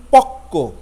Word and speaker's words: পক্ক: এরপর আর একটা দেখুন পক্ক, প কয় ব যুক্ত পক্ক, কিন্তু উচ্চারণ করছি প কয় হসন্ত কয় করে কেউ, পক্ক, অর্থাৎ কয়ের দ্বিত্ব উচ্চারণ হচ্ছে।